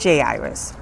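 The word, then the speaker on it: Jairus: It's J Iris. There you go. Your monarch mispronouncing things again.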